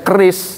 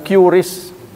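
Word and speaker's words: QRIS: sekarang sekalipun sudah ada anu namanya apa sebenarnya dibacanya keris tapi orang bilang curis itu di penggagasnya adalah ibu menteri kita keuangan kita Sri Mulyani.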